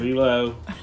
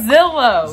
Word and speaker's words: Zillow: Zelo. I can't help it. No. It's Zylo. Right? No, it's right. Zillow.